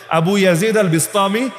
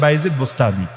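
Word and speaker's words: أبو يزيد البسطامي: আবু ইয়াজিদ আল বিস্তামি বাংলাদেশে আসলে হয়ে যায় বাইজিদ বোস্তামি।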